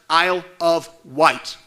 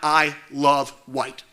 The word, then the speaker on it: Isle of Wight: remind the board that this county is pronounced Isle of white not I love white school board members have